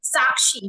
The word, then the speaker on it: Sakshi: your name it is is it sakshi or sh it is sakshi right yes yes sakii